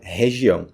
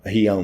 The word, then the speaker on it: região: Region em português seria região. Então, regi não. Rão. Rião não. Como? Re, reião não. Região. Região e regiões.